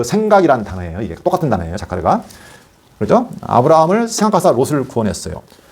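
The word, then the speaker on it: זכר: 우리가 기억이라고 했지만 다른 성경에서는 다르게 어떻게 번역이 되냐면 이 기억이라는 그 원어가 자카르. 이게 중요한 단어니까 한 번씩 발음을 해보세요.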